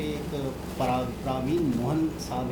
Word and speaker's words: प्रवीण: प्रवीण मोहन, जैसे उर्दू में लड़की का नाम लिखते हैं ना परवीन, परवीन। हाँ। तो उसका नाम की स्पेलिंग तो वैसे ही आती है, लेकिन शायद पढ़ते होंगे प्रवीण मोहन।